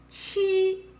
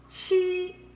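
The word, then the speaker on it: 七: let's look at seven chi first home flat chi chi nowadays is written like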